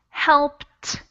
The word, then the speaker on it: helped: in that sentence it's helped helped and we pronounce that e d as if it were a t and you can these